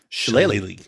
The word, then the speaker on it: shillelagh: Does anyone know how to pronounce this? Shilalag? Shillelagh.